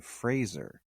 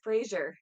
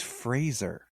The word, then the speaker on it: Fraser: thing he was like my name is Brendan Fraser like Razer he's like it's always